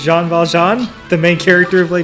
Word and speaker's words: Jean Valjean: didn't watch Les Mis because you pronounce the velgene sure I mean I don't know what it's pronounced like stop falls John okay this is Jean Valjean the main character of